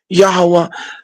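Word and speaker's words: Yahweh: the W pronunciation and when you connect the ha the h you get yaha a yah that's why we say yahwah okay there may be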